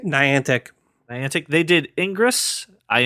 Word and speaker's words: Niantic: their first going around Brian how do you pronounce the the name of the company Niantic Niantic Niantic they did ingress i n g re